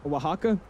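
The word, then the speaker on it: Oaxaca: Wajaka. It's not spelled at all how it looks or it's not pronounced at all how it's spelled. Um, but Wajaka is where we're going.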